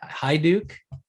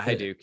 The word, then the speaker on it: Haiduk: i apologize i uh i pronounced your last name incorrectly then it was hi hi duke yeah hi duke yeah okay i'm sorry